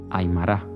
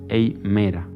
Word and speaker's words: Aymara: de la Bolivia, los Aymara. Los llamaba los Aymera, alargando el nombre como si su pronunciación fuera la única acertada que existiera.